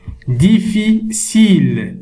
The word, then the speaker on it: difficile: Difficile. Cile. Alors, ici, la lettre C ici, on la prononce S.